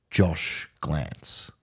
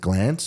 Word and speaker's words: Glanc: In fact, in fact, one of the leading kind of titles is Josh Glanc, Josh Glance. So my name is spelled GLANC. Yeah. But you pronounce it Glance.